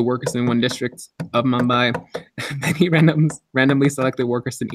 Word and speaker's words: Mumbai: In a study to determine the average wage of working people in Mumbai, is that how you pronounce it? Mumbai. Mumbai, there we go.